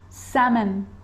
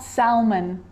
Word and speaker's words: salmon: walk yolk yolk half half salmon salmon not salmon salmon salmon so we got through